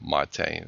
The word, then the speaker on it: MATE: quell the controversy and it's okay to call it mate it's okay I sometimes say it either way it just all depends